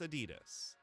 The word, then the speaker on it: Adidas: says no you're right I consciously made the decision years ago to pronounced Adidas properly come on I I feel like it sounds like you're trying too hard if you say Adidas though it's Adidas uh the little fruit filed